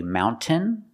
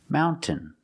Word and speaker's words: mountain: You have two pronunciations. You can say mountain making the t sound. Mountain or you can make a stop t. Put the tongue up and stop the air and then fall to the n mountain. Mountain. Both pronunciations are correct.